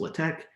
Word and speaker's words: LaTeX: looks like it's spelled latex uh but it's pronounced latex my hope is that the hardest part about